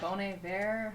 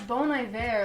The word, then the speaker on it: Bon Iver: don't even know how to say his name boney bear however bon iver bon iver but i don't it's bone eye there like it's like you say it weird and